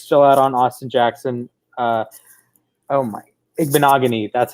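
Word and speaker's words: Igbinoghene: Igbenogany, that's how you say it.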